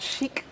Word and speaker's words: Sheeq: It's called Chic Cosmetics. It's spelled SHEEQ, and it stands for She's Exquisite.